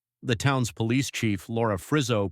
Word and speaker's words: Frizzo: The town's police chief, Laura Frizzo, pronounced F-R-I-Z-Z-O, starts asking questions.